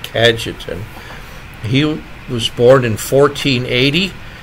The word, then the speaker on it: Cajetan: today the Feast of St kajetan I think that's the pronunciation c a j t a n kajetan he was born in